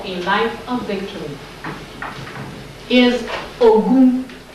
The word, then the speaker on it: Ogun: Third principle for third social principle for a life of victory is Ogun. Ogun. O-G. G is like in George. Is G or J? That's G. O-G-O-U-N. Ogun.